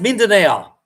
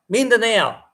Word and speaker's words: Mindanao: thing it's pronounced Mindanao Mindanao you see how it's